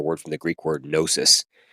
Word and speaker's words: gnosis: We get our word from the Greek word gnosis, which you can hear it sounds like knowledge almost, knowing, gnosis, except it's spelled with a G, a silent G.